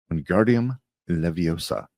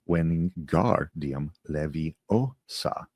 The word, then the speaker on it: Wingardium Leviosa: Wingardium Leviosa, he shouted, waving his long arms like a windmill. You're saying it wrong, Harry heard Hermione snap. It's Wingardium Leviosa. The gar, nice and long.